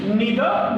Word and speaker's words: neither: Neither nor. Either or. We can also, you can pronounce it like neither nor, either or. Okay. So you can pronounce them in any way. There are two pronunciations.